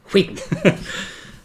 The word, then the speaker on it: Wheaton: Let's talk, why are you pronouncing the H? Will Wheaton.